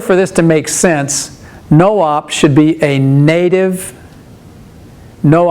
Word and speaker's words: nop: we need is a no op nop this is a common instruction it's always spelled this way nop and it's pronounced no op a no op is